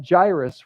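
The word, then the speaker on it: Jairus: the synagogue named gyrus everybody say gyrus gyrus because that's the way you pronounce his name came and when he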